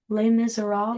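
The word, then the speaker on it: Les Misérables: Les Miserables?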